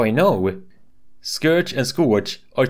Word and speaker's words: Scourge: Now, I don't mean to be everyone's English teacher right now, but I do believe you're supposed to say Scourge, not Scorch.